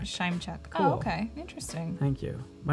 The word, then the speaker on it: Panczyszyn: God, I remember when I Scheimchuck is what Merrick says. Scheimchuck. Scheimchuck.